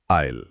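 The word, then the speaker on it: aisle: आईल spelling है ए आई एस एल ई। यह एक नाउन यानी संज्ञा है। और उच्चारण है आईल। बिल्कुल। जैसा आपने कहा एस का उच्चारण नहीं होता।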